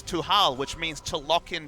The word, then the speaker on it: Tal: The correct pronunciation of Tal's name is Tuhal, which means to lock in Trundle.